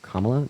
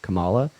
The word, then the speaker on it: Kamala: And also, please either pronounce Kamala Harris's name right by saying Kamala, not Kamala, or just call her Harris.